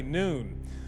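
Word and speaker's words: Nguyen: ng u y en many pronounce it win while some say noon police say this man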